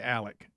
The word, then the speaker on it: Alex: all right then and his name is spelled Alex and they say Alec it's just the most